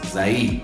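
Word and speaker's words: Zaïd: Entonces, vean, es un acento diferente, es Zaid.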